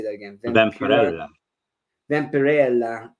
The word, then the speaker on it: Vampirella: uh how do you say that again Vella Vampirella Vampirella yeah and like a couple of those others